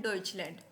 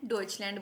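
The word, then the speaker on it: Deutschland: को हम बोलते हैं डचलैंड जर्मनी को हम क्या कहते हैं डचलैंड बोलते हैं जर्मन को हम डच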